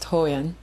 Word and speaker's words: Hoyeon: international woman of mystery miss ho yeon it's pronounced toyan as the international woman of mystery no